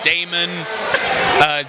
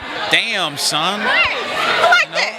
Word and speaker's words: Damson: time oh my gosh people call me Damon Damus in' but it's so easy to remember it's like damn son been working with John